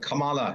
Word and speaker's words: Kamala: She calls herself Kamala Harris, not Kamala I don't have an American accent, so I will say it the Indian way.